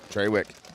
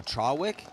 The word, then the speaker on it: Trawick: get it I promise well it's t-r-a so Trawick I think it's treywick okay I think that's just the way it's pronounced up there cool I don't think